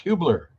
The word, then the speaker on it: Hubler: Tom how are you I'm great but it's pronounced Hubler do you know I should have asked that